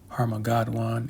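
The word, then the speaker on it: Harmagedon: the Hebrew tongue Armageddon, which would be, Harmageddon, if I pronounced that correctly. That's the correct pronunciation in the Hebrew, which is, the Valley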